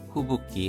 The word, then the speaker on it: 吹雪: 규조야 규조야 후붓기 하면 눈보라입니다. 후붓기니 케이가이가 경계가 必要です. 필요합니다. 후붓기의 한자를 보시면은 후크, 불다와 육기, 눈이 합쳐져서 후붓기로 발음이 바뀌었습니다.